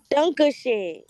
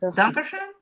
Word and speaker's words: Dankeschön: Dunkashay. What? Bittershay? Dunkashay? Danke. Dankeschön?